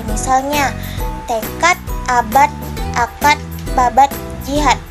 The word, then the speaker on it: tekad: Misalnya, tekad, abad, akad, babat, jihad. Dalam lafal bahasa Indonesia itu berakhiran huruf T.